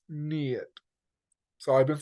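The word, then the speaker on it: Neith: there's the brilliant Festival of the lights of nit a celebration honoring this great CTIC goddess whose name is pronounced NE so I've been saying it wrong my bad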